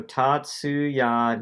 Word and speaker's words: Tatsuya: Are you gonna pronounce his name right? That's. Also, Tatsuya.